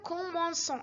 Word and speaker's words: commençons: لكن إذا كتبناها nous commençons عادية سنقولها nous commençons. الأصل هنا هو commencer اس فيها نطق سي.